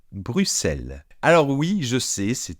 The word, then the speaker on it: Bruxelles: Alors non, on ne dit pas Bruxelles, on ne dit pas Bruxelles, comme les Français disent souvent, mais on dit Bruxelles.